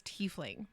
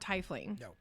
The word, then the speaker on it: tiefling: t yeah i that's the only way that i have ever heard it is tiefling yup not titling so when that person